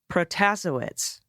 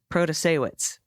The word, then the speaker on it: Protasewicz: Hi, just a friendly correction for the pronunciation for Judge Janet in Wisconsin. Protasewicz. No, that's not right. Protasewicz.